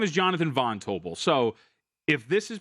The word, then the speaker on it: Jonathan Von Tobel: this morning, and the host kept calling me Jonathan Van Tobel, and it drove me nuts. Oh, no, you hate that. I hate it. You want to know why? Because my name is Jonathan Von Tobel.